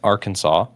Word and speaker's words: Arkansas: Fort Smith, AR Arkansas is how it's pronounced, but it looks like R.